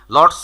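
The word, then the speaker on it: lots of: লটস অফ পুরোপুরি উচ্চারণ করার সময় নেই, লটসা, এরকম ওরা কিছু কন্ট্রাক্ট ফর্ম ইউজ করে, যেটা আমরা আসলে একটু শিখে নিলেই কিন্তু পারি।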